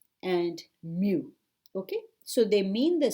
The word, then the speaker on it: mu: mu is lower case greek letter m u mu pronounced mu to represent the mean so what do